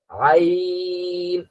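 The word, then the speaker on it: عين: স্বাভাবিক মনে করেন যে আপনি সোজা হয়ে বসলেন, মুখটা হা করবেন বড় করে, আইন। আইন। মুখটা যদি একটু খুলেন, একটু বড় করে হা করেন, তাহলে আইনের উচ্চারণটা সুন্দর গলা থেকেই আসবে।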